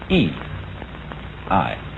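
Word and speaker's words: 義: not law but Justice this word is pronounced e i and Justice in this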